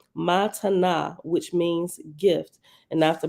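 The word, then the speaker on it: מתנה: Reference number 45 at the bottom says, the Hebrew word matana, pronounced matana, means gift and is a Nazarene sectarian term for the first form of salvation.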